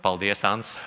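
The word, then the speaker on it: paldies: now you will have to say in Latin paldias because everyone were struggling to do this can you pronounce it properly Paul De Assange okay good it works I love all these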